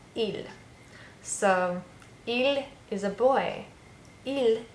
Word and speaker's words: ils: So even though I have an S, just like when we say nous and vous, we don't pronounce the letter on the end. So it's just the sound, il. So il is a boy.